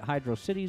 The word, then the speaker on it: Hydrocity: that some of the people that i admire pronounce it hydro city zone it doesn't upset me when they do